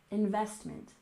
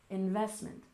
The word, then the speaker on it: investment: next we have investment we stressed the second syllable investment investment and this is when